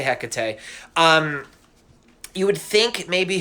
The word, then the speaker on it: Hecate: about her so alright her name is Hecate or Hakata depending on pronounce I say Hecate um you would think